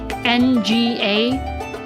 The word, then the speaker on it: nga: And then one of them is na na like n g a but there's no way to like spell it in English properly where they would be able to pronounce it right. So it's nga.